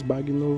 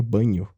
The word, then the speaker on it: Bagno: palavras e provavelmente Marcos bagno você não deve conhecer Inclusive a pronúncia do nome dele é completamente estranha o correto Na verdade seria banho Marcos Banho é um linguista